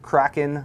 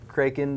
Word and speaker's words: Kraken: Razer we have the Razer Kraken or kren depending on your pronunciation preference uh that's the G gaming